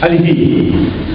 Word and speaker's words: Alice Guy: ¿Cómo se pronuncia en francés? Alice Guy.